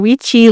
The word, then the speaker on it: Quychi: Weechi Le.